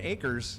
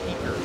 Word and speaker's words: Akers: But people like Jordan Akers give us a phonetic pronunciation spelling when they put it on their tech card. So we say Aker, not Eker.